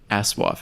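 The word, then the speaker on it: ASOIAF: she replied and she she was very open to pronouncing the subreddits name a soif in the future yeah I was worried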